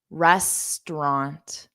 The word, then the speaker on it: restaurant: sounds there are Resturant so we just have two sounds restant Resturant resturant okay repeat after me restaurant restaurant yes exactly sandar